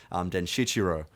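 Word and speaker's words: Denshichirō: I want to go to a tangent about Den Shichiro, as per Stanley's official pronunciation.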